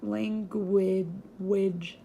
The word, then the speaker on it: language: just there and then we have language which you can see that G oh isn't it like over here but it makes a W sound so like language like in penguin it makes a W and so the U is not silent which is why it's not bull and then we have